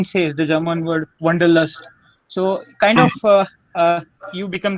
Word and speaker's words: Wanderlust: The German pronunciation for is Wanderlust, this Wanderlust that we call it.